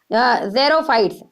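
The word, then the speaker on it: xerophytes: अब यहाँ पर कौन सा वेजिटेशन मिलता है, desert vegetation is known as जेरोफाइट्स, ये यहाँ पर एक्स को जे से प्रोनाउंस करेंगे जेरोफाइट्स।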